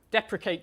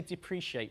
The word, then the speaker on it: deprecate: Deprecate term, I pronounced it correctly, I say depreciate for some reason.